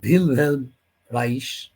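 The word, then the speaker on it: Wilhelm Reich: 1933 সালে উইলহেলম রাইখ, সম্ভবত জার্মান ভাষায় উচ্চারণ ভিলহেলম রাইস, তিনি ফ্র্যাঙ্কফুর্ট স্কুলের খুব ঘনিষ্ঠ ছিলেন।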